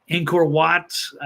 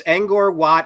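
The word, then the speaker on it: Angkor Wat: course the Mexican pyramids um what's I forget inor watt maku Pichu am I pronouncing all this stuff right there's there remnants of it's angor It's angor watt it's Machu Picchu in Peru what else were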